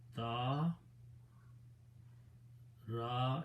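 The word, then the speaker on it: تَرَ: Now, instead of pronouncing tar-a, we want to make it easy on the tongue, and we pronounce this as, just by moving the harakat backward, we pronounce it tara.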